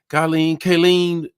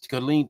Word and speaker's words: Killeen: From Kayleen, tell me how to pronounce that. Killeen, Texas. There it is, Killeen, Texas.